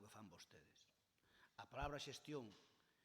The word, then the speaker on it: xestión: A palabra xestión, que se escribe con X ao primeiro e que termina cun acento na ON, pois, sí, pero con acento en ON, ten por o medio